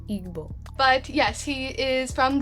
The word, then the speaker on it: Igbo: So if I'm saying it correctly, I think it's supposed to say Igbo.